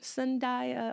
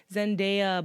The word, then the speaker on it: Zendaya: that's awesome um oh sundaya or Zendaya I keep saying I don't know why I say it like that Zendaya bless her [ __